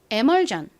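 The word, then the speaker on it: emulsion: 그리고 리을 받침 L 마지막 전 부분은 s i o n입니다 덩어리 소리 si은 무슨무슨 소리가 난다고요 션 그리고 전 소리가납니다이 sion 역시 자주 쓰이는 덩어리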